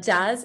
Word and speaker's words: jazz: Now, typically, the J we pronounce as a H, but because this is a word that comes from English, we pronounce it as if it's in English.